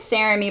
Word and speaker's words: Sarami: My name is Sarami, by the way. I fail to introduce myself all the time. It rhymes with Jeremy.